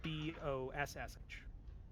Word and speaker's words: Bosch: He goes by the name Frederick Bosch. Boesch? No, Bossh. Oh. It's pronounced differently to Teutonians, but she's lived here her whole life.